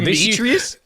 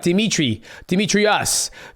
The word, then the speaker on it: Demetrious: Demetrious? Dude, you have no idea. No idea. It'd be like Demetrius, Demetriasa. Like, it's fucking crazy.